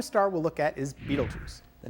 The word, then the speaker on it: Betelgeuse: pronounced mental Jews but most people pronounce it beetlejuice so they can remember it because if you stepped